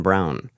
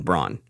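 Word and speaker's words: Braun: and by the way I thought it was Bron always no because of like Eva Bron yeah no I got that yeah it's not no no on brown brown but it's spelled Brown yes so don't call me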